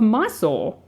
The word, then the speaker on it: Mysore: the Khedive of Egypt, and the Maharaja of Mysore, which I'd never heard of Mysore, which is spelled Mysore, so I had to Google it.